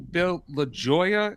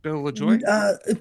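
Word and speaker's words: Bill Lajoie: Could you tell us who Bill LaJoya is and how he influenced Ron LeFlore? Did I pronounce that right? Bill LaJoy? Close. Bill LaJoy.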